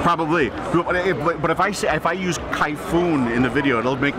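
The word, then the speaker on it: Kayfun: And still, is it Kaifun or Kaifun?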